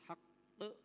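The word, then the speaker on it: حَقّ: Haq di samping qalqalah dia ada tasydid. Jadi ditekan dulu kemudian dihentakkan atau dipantulkan. Haq. Hak jangan hak jangan dibaca hak tapi haqq ada qya ya.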